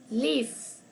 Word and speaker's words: live: e no se pronuncia lif Okay la e final no se pronuncia cuando usted está diendo una palabra Entonces tenemos lif quito